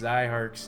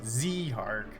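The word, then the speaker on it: Zihark: you how to pronounce Zyhark's name, right? They're like, no, don't pronounce it Zehark, pronounce it Zyhark.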